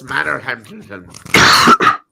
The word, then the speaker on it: Manorhamilton: Okay, and what's Manorhamilton? That would be the local town. How do you say it properly? Manorhamilton. Oh, just like it looks.